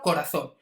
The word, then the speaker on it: corazón: sílaba como por ejemplo corazón veis que la fuerza recaiga al final de la palabra corazón no es corazón ni corazón sino corazón eso no sabe indicar